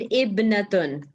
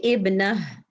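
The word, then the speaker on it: ابنة: So if you have to say it properly, Heba, you will say Ibnun, Ibnun, and Ibnatun.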